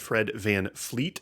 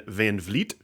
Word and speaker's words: VanVleet: to get really mad if you said Fred VanVleet, as in like a fleet of ships, rather than VanVleet.